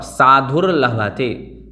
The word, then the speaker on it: साधुर्लभते: और साधुर्लभते, जो रकार है वो उकार के बाद बोलना है।